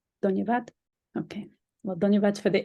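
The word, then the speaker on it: धन्यवाद: Dhanyabad. Dhanyavad.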